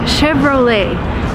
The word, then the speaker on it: Chevrolet: is a car coat Chevrolet and surprisingly it's an American company but it uses a French name and sometimes Americans just